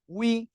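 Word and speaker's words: وِ: জের নি, ওয়াও জের উই, উই। এ অক্ষরের উচ্চারণ অনেকের ভুল হয়। এখন দেখেন কিভাবে উচ্চারণটা করবেন। ওয়াও জের কি উই, ইংলিশ উচ্চারণ দেখেন ডাব্লিউ ই, উই, উই মানে কি আমরা।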